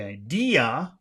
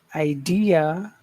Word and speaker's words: idea: So what is the accented syllable in the word idea? Okay. So that that d not not the just d. So there are three syllables I d and uh but only d gets attention. The other two parts do not get attention.